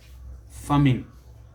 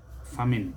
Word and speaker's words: famine: Just like we say famine. Famine, never famine.